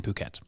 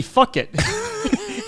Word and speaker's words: Phuket: Nobody said the word, so I said like, oh yeah, like that one city, fuck it. And he goes, That's what it reads like. Then he goes, it's pronounced Phuket.